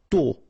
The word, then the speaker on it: tôt: Tôt. Okay, final T not pronounced, and then this O accent circumflex is a bit stronger than normally. So tôt.